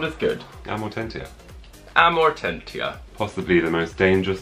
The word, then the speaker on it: Amortentia: Amortentia. Amortentia. You pronounce all the T's. Mm-hmm. Well, that just doesn't sound as good. Amortentia.